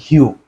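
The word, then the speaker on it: hue: করি অর্থাৎ ই লেটারটি যুক্ত করি তাহলে এটার উচ্চারণ দ্বারা হিউ এবং ইংরেজিতে হিউ মানে হচ্ছে রং ইংরেজিতে হিউ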